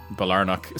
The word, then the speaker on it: Balornock: I will just say I have looked up multiple ways to pronounce Balornock, and Balornock seems to be the way that I've seen most people, particularly Glaswegians, pronounce it online. So we're going to stick with that.